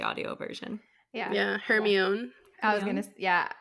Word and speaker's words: Hermione: were all trying to figure out how to pronounce Hermione. Yes. Mhm. No Yes. one said that correctly until we No. heard the audio version. Yeah. Yeah, Yeah. Hermione.